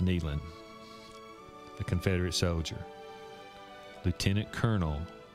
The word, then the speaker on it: Neyland: deaths was the grandfather of general robert rees naylan but it's pronounced neyland the confederate soldier lieutenant colonel robert reese neland